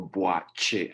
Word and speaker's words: Boakye: I know actually the spelling of my last name, the KY phonetically is actually CH. Ah, So you go Boakye, as in like say Chicago, for instance. That's okay. in Chicago. Yeah. So I know it's And kind of what how it's spelled is not how it's pronounced.